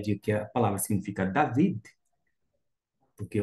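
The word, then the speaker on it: דָּוִד: é um pontinho e Mesmo não tendo aqui sendo a mesma letra não tendo esse pontinho da GU o som vai permanecer o mesmo desta forma você vai ter justamente esta esta pronúncia David David o nome claro de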